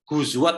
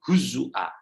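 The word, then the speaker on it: هزوا: Jadi bukan bacanya huzwa tapi huzua Wa ja'alha hafsun wawan maftuhah. Imam Hafs menjadikannya wawu yang fathah. Jadi standar kita itu standar hafs Jadi bacanya itu huzua.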